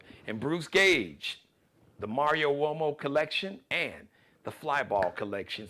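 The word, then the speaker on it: Uomo: Bruce Gage or Mario wo now wo is an Italian name so wo's got the W sound but it's spelled you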